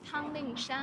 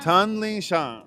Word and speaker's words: Tanling Shan: Tell me how to pronounce it. Uh uh uh his ch uh Chinese name is Tanling Shan. Tanling Shan.